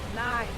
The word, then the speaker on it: Nai: Nai, like you spell it.